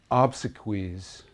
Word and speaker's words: obsequies: And the other thing I'll say about it is obsequies rhymes with cheese.